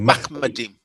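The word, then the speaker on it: מחמדים: It's actually, and as I say, it's actually Machmadim.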